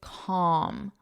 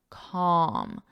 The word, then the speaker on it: calm: This pronunciation, the L is silent. It's calm, om om calm, calm.